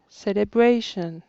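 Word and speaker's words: celebration: deux syllabes evening célébration célébration sa troisième si l'appli est accentuée dans le cas de ce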